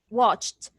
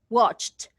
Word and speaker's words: watched: you pronounce it correctly watched watched so you pronounce the t at the end look at the verb